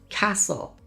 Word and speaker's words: castle: Words like listen, it's not listen, it's listen. Castle, not castle. Fasten, not fasten. The ST combination in the middle of a word is almost always a signal that the T is just going to disappear.